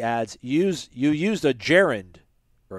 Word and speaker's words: gerund: use you used a gerund or a garand a gerund g-e-r-u-n-d do you not pronounce that cory i don't you used